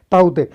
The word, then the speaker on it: Tauktae: जैसे इसको ये इंग्लिश में लिख दिया, यहाँ पे ये प्रोनाउंसिएशन दिया ताउते।